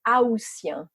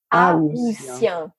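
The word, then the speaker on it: aoûtien: But the problem is when you refer to the people living in August, then you pronounce the A, which is very French, right? Rules and exceptions. Oh, sure, yeah. So how do you say it? So if you go in August, you are an Haussien. Haussien.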